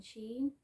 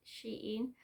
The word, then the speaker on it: Shein: have a look on sheen i actually said it right this time i always say she in on all of my other halls um and the amount